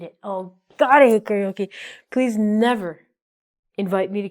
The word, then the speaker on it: karaoke: First one, we say "karaoke". Karaoke is when you sing, you make a fool of yourself in front of your friends.